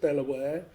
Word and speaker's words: De La Warr: The reason we say Delaware is because of the family name. Right. The family pronounce it Delaware.